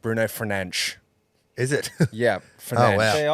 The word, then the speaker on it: Bruno Fernandes: In Portuguese, it's pronounced Bruno Fernandes.